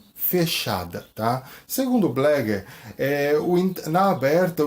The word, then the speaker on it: Bleger: Hoje nós vamos falar um pouquinho sobre a entrevista psicológica de Blégger, tá? Esse importante teórico argentino, tá? Onde na verdade a pronúncia é José Blégger, né? No espanhol.